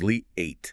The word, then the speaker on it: Leia: It's Lee eight. Lee eight. Okay. So, one smooth sound. Exactly. A long eight sound like the eight in Artha. No pause.